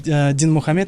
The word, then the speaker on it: Динмухамед: Но когда сегодня я выпустил сторис, мне в комментариях там написали: неправильно говорить Димаш. Почему говоришь Димаш? Надо говорить Динмухамед Ахметович. Как все-таки правильно?